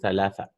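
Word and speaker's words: ثلاثة: Sa should be pronounced like with the tongue out, right? It's not seen. It's tha, tha, thalithu, thalatha, right?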